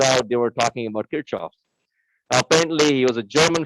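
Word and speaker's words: Kirchhoff: so i'm from india the way we pronounce it there is kirchoff so if you ever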